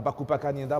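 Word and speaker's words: Balufu Bakupa-Kanyinda: Justement, on a sur ce plateau où il vient de nous rejoindre le cinéaste Baloufou Bakouba Kanyenda, c'est bien prononcé. Bakoupa, voilà, Bakoupa Kanyenda.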